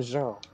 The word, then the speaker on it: Jean: And me, I'm Jean. Who? Jean. Who's Jean? Jean. Oh, Jean. Yeah, that's because in French we say Jean.